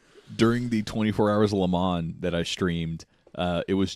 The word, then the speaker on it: Le Mans: But I was watching the 24 hours well, if you're doing the proper French way, you have to say it like you're dying. So it's like 24 hours Le Mans. You have to draw out the ma.